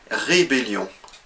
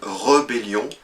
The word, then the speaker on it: rébellion: rebelle c'est le mot rébellion il y a un accent sur le premier e alors que beaucoup de personnes vont parler d'une rebellion en fait on devrait